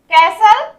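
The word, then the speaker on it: castle: कैसल, कैसल यहाँ भी ध्यान से सुनिए, टी का साउंड नहीं आ रहा है, कैसल बट टी लिखा गया है, महल या दुर्ग।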